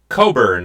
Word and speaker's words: Cockburn: Oh, well, he was focused on the name Coburn, as we might pronounce it here.